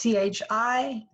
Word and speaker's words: chi: and it's underneath it's CHI, but it's One. the X. It's like luck. Oh, here. Like Oh, luck. here. I'm sorry. Yeah. It's well, I'm Scottish, so my illustration is always loch.